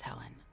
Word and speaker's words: Helene: Her name is Helen. That's spelled Helene.